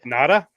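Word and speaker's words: Ngata: So, we'll go get Nagata and Siraa. Yeah, Natada. He's pronounced Natada. Natada.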